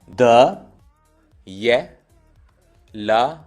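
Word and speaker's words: дело: उसके बाद है द, ये, ल, ओ। स्ट्रेस जो है ये पे है, ओ पे नहीं है, तो द्यला।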